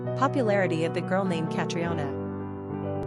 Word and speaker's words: Catriona: Number of syllables, 4. Ranking popularity, not applicable. Pronunciation, Catriona, Catriona.